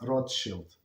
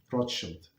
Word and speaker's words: Rothschild: So that's how they pronounce Rothschild, and that's how they pronounce in European. Not in English, but Rothschild, not Rothschild.